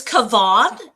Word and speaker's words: Kavan: So my name is Kavan. It's pronounced like Yvonne, but with a K in front, and the E at the end is silent. So Kavan. And if you mispronounce it, that's okay.